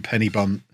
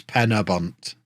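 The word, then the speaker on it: Pen-y-bont: able to pronounce that I live five miles away from Penny bump it's Pena bunt okay Hamlin sorry what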